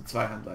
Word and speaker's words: Zweihandler: I speak German, so Zweihandler is how you pronounce it in German.